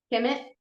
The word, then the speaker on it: Kemet: Kemet, Okay, ancient yeah, Kemet.